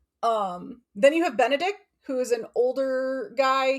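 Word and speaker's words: Benedick: It's Benedict, not Benedict. There is no T. Yeah. Awkward. It's a K.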